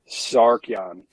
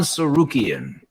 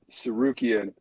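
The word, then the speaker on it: Tsarukyan: Charles Oliveira versus Arman Sarkian. Almost. Arman Sarukian. Sarukian. I was just say it twice, and it's twice as nice. Sarukian.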